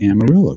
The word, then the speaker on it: Amarillo: Dillon and Amarillo Texas that's a Spanish word but it's pronounced Amarillo go figure the counter-offensive for Ukraine